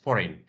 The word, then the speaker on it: foreign: maybe forign foreign yes foreign G is not pronounced here so it's called Silent that's why it's not